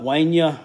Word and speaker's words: Wanya: I was referring to Wanya way Nia Morris this is how you pronounce that and Darnell right expected